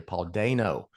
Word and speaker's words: Dano: I realized for the longest time all through covering the Batman, I was pronouncing that man's name incorrectly. Paul Dano.